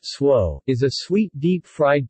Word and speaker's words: Tso: general so s chicken pronounced swo is a sweet deep fried chicken dish that